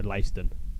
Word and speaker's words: Leiston: You are correct, so Leiston. Thank you very much. wouldn't want to do the town injustice by pronouncing the name wrong.